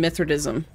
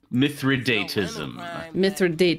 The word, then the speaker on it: Mithridatism: Turn on Mithridism. Mithridatism. There's Excellent. One. There's someone attacking you right now. It's this little baby. Okay. Okay. Hang on. Okay. Pronunciation. Mithridatism. Mithridatism. It's Mithridatism.